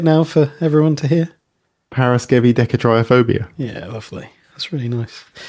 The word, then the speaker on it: Paraskevidekatriaphobia: We are in Series 8, Episode 3, Paraskevidekatriaphobia.